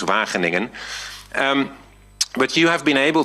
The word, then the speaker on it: Wageningen: You've all learned now how to pronounce that, right? Wageningen. Because that was one hidden task for this year. You all had to be able to pronounce Wageningen.